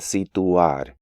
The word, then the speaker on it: situar: Again, one of the most common mistakes is breaking up diphthongs into different syllables. Even advanced students tend to pronounce these words as continuar, mutuar, and situar, when more accurate pronunciation is continuar, mutuar, and situar.